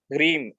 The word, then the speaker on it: ह्रीम: ठीक है, दूसरा है ह्रीम, HREEM, ह्रीम, हरीम, हरीम बोलो। मैं स्पेलिंग बोल रहा हूँ HREEM, ह्रीम।